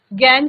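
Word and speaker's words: gangue: उनको गैंग कहा जाता है। Spelling ji ए एन जी यू E spelling थोड़ा सा डिफरेंट है। कहा जाता है गैंग।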